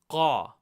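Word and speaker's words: क़: Qa is produced by taking the vocal cords. Instead of saying Ka, you're going to produce that Ka sound, but further down from your vocal cords.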